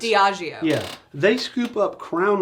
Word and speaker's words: Diageo: Now, I always mispronounce them. It's Diageo.